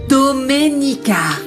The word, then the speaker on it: Domenica: Tu as du mal à prononcer mon prénom. C'est Doménica.